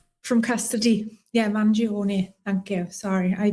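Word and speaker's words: Mangione: Magalone Manion from custody. Yeah, Manion. Thank you. Sorry, I butchered that.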